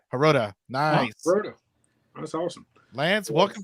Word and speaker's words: Herota: uh we have Lance how do you say your last name is it herota I forgot that yeah haroda nice that's awesome Lance